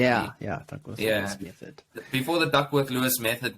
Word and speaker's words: Duckworth-Lewis: Yeah, Duckworth-Lewis method.